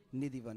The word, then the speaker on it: Nidhivan: So on her birthday in the evening, we went to, is it Nidhivan or Nidhuvan? Nidhivan.